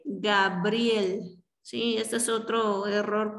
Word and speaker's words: Gabriel: donde al final también grabiel en lugar de gabriel si esto es otro